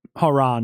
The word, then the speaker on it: Hron: John Haron was a oh it is Haron I I pronounced it right all right 1995 so